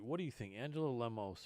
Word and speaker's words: Lemos: do you think angela lemos or lemosh i think as they pronounce it has been just slaughtering